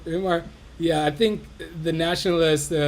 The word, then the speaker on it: Weimar: In the Weimar, how do you say, Weimar Republic? Weimar.